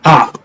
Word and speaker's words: Akh: You got the Ak, which is spelled AKH.